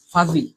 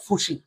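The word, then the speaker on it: fuzzy: হবে লিখেন না দেখি, এটার উচ্চারণটা অনেকটা এরকম, ফাজি, ফাজি, ফাজি, উচ্চারণটা হবে ভাইয়া ফাজি, মানে অস্থির অথবা অতি ব্যস্ত, এরকম কিছু মিন করে। আবার ভাই পুজি, না রে গাদারা, এটার উচ্চারণ হবে ভাইয়া ফাজি, ফাজি, নট ফুসি, ফুসি বা ফিসি কিছু না, ফাজি, ফাজি, ফাজি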